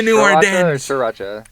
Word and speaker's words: sriracha: or Sriracha. It's sriracha. It's always interesting the way people pronounce stuff because a lot of it has to do with like our vowels, right?